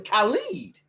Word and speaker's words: Khaled: It's really Khalid. His name is Khaled. And you can't pronounce it that way. It's Khalid. It's Ka, not Cal.